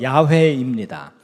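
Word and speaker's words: 야훼: 우리말 성경에는 여호와라고 번역이 돼 있지만 어 히브리어 원문 단어의 발음은 야회입니다.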